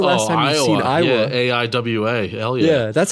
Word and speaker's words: Aiwa: stealing a bunch of walkmen and it's like Iowa have you seen uh when's the last time I've seen Iowa Aiwa yeah that's how you say it right I